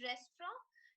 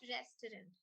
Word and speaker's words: restaurant: It's restaurant. So it's like rest and then raw. T is very, very minutely pronounced, so it's almost as good as a silent T.